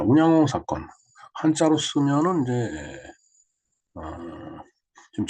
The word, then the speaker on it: 운양호: 자, 운양호 사건 한자로 쓰면은 이제 지금 제목에서 보는 바와 같이 이렇게 쓰는데 이것을 일본어로 읽으면은 운요호가 됩니다.